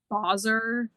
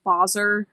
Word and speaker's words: Basar: It's It's always uh technically it's Boser.